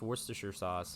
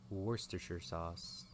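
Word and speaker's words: Worcester sauce: from sure in English I know how to pronounce Worster sauce and that's my only cool thing that I can do Worster sauce I can say it properly I can go to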